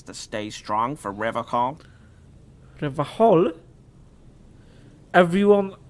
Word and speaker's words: Revachol: Like, the C and H in the Polish would be pronounced Revachol. Like, you know, like there wasn't a C there. And I thought that he pronounced it like that, like Revachol. But apparently he pronounced it with a hard K, so Revachol.